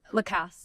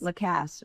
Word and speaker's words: Lacasse: I'm sorry, how you pronounce it? Lacasse. Lacasse.